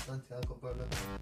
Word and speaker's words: Santiago Bernabéu: Yes, it's Santiago Bernabéu. Right. I pronounced it right.